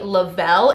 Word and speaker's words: Le-Vel: under the parent company lavelle it's spelt like level but lavelle sounds fancier so they're going with